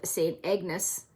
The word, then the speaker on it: Ignace: So Mackinac City is at one end of the bridge, and St. Ignace or St. Agnes, it's Ignace, but it kind of depends on your accent, how you say it, is on the other end.